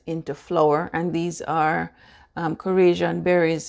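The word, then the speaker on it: Khorasan: Now I'm going to grind the berries into flour, and these are Korasian berries. It's spelled K-H-O-R-A-S-A-N berries.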